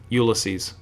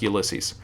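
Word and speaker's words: Ulysses: Some for some reason I wanted to call him Ulyses at first, but it's pronounced Ulyses.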